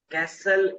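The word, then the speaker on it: castle: हवाई केले बनाना मतलब खली पुलाव बनाना build कैसल सी ए एस टी एल इ सी ए एस टी एल टी इसमें साइलेंट है कैसल बोलते हैं क्या वो शायद हमेशा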